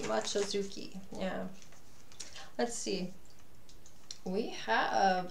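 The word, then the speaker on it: Mochizuki: And that's how I knew how to pronounce her name. Mochizucki. Mochizucki.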